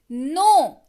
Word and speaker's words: know: नो, KNOW spelling होती है, पर पढ़ते हैं इसको नो।